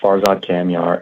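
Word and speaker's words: Farzad Kamyar: apologize if you could say your name and spell it for the record thank you absolutely yeah so my name is Farzad camar f a r z- a d k a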